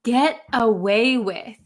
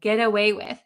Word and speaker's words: get away with: this really really quickly this T is going to become a D sound an English D sound G geta get away with get away with okay the meaning is